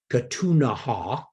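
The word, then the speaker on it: Ktunaxa: and provided food now the Kootenay who pronounced their native name katunaha who are the predominant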